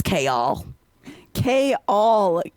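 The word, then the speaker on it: Chaol: editor was right because no one can pronounce kal at all but here you've learned it's cha k all okay I did not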